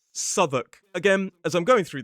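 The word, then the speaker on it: Southwark: If you go to London, you might see a place that looks like Southwalk, but the pronunciation of this place is Suk.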